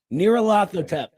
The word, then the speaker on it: Nyarlathotep: Is that actually how it's pronounced? Is it Nyarlathotep? Fuck. Oh, I apologize for the swear. Is it Nyarlathotep? Nyarlathotep. Nyarlathotep.